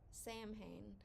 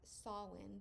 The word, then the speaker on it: Samhain: like Sam ha and I've seen some people pronounce it Sam ha but from everything that I've read it is pronounced sawin because it is a